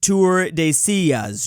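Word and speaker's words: Tordesillas: It's pronounced Tour de Sillas, Drew.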